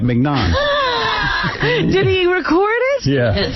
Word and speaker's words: mignon: So Scott says, you're pronouncing it right, mignon.